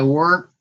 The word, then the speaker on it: worked: Yesterday I worked. There's a T at the end. I worked. You write it with ed. See, but you pronounce it with a T.